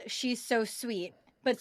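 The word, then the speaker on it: Suit: February called she's so sweet but sweet is spelled s UI t as in C interviewing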